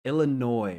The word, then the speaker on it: Illinois: her I like m take that noise out take out the S it's silent Illinois right we don't call